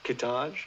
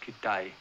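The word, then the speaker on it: Kitaj: Kittage. No, it's pronounced Kittai.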